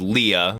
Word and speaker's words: Leia: my God okay Princess Leia which is the original pronunciation was Leah our goose is cooked